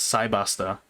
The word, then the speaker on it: Cybaster: Technically, it's supposed to be Cyberstar. That's that's the name, right? It's the Cyberstar, but it's called, or well, it's pronounced as Cybaster, and they just localized it like that, so that's what we know it as.